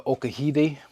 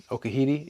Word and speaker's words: Okahide: have these uh the Okahiti. Okahiti. Yeah, that's how you say it. Spelled like okahide, but the Japanese pronunciation, the proper way to say it from what I've been told is uh okahiti.